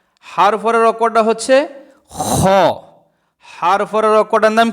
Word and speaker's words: خ: খ। আবার বলেন খ। এই অক্ষরটার নাম হচ্ছে খ। খ অক্ষরটা গলার শেষ ভাগ হইতে, অর্থাৎ থুতনির সাথে যে লাগানো, এখান থেকে খ অক্ষর উচ্চারণ হয় গলার শেষ ভাগ হইতে।